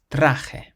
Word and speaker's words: traje: This next word ends in a vowel, and there are no accents, so we can pronounce the syllable before last. It means suit, and you say traje, traje.